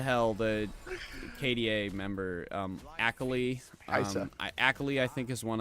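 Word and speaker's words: Kai'Sa: and this is her first game on Hold Kesa. on, excuse me. What? What's that champion again? What's that called? ally has been slain. I don't care about your pronunciations, okay? It's Kaisa.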